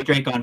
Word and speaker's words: Dracon: Kyle Higgins is going to sign my Dracon figure. And yes, I call him Dracon because that's the right way to say it.